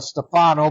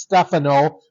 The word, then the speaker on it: Stefano: For years we called him Stefano, but it is Stefano, like the tennis player Stefano Tsitsipas.